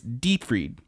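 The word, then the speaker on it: Dietfried: the name as the person says it is deep read it is spelled diet hard di e th ard look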